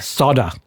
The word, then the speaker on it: solder: you say solder Pete we pretend the L's not there it's solder soda what solder again that